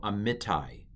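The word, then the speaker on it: Amittai: Then me, and then tai. So this is a Yod, but it's a patak Yod. So it's I. It's kind of like I. But you can hear the Yod, can't you? Yeah. I. So amitai.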